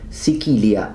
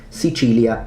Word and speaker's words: Sicilia: Well, interestingly enough, it would be the province of Sicilia, as it's pronounced in classical Latin, Sicilia in ecclesiastical Latin, and Italian, Sicily.